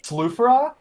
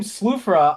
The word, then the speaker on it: Sufra: Like I found out it's Sufra, uh, the Underworlder Muj. Like his name Sufura. I didn't realize that. I thought it was like sulfur like like sulfur.